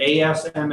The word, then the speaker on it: Asma: that is okay uh it's pronounced like the letter S and then ma oh thank you yeah